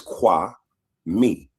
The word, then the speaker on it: Kwame: It's qua me k w a and then m e me.